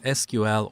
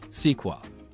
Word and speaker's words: SQL: learn everything you need to get started with SQL or sequel first I'm gonna give you a three minute